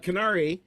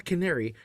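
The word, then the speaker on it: Kenari: planet carrion uh uh no Canary yeah it's saying it wrong uh qunari not Le canari qunari uh which appears to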